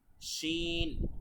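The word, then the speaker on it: شين: গাইন খফ কফ শিন অনেকে এটাকে সিন বলে সিন না শিন শিন জদ তারপর হচ্ছে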